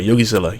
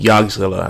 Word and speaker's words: YogiZilla: YogiZilla, YogiZilla, Yogi like the bear, and then Zilla like Godzilla. Really phonetically friendly, but some people still call me Yogzilla.